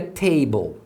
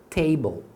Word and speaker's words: table: Porque a hora que você separou as sílabas, tá vendo, ó? Consoante mais LE, você separa aqui, ó. A primeira sílaba terminou com a vogal, então você pronuncia o som longo da vogal, que é A. Por isso que aqui é table, tá vendo?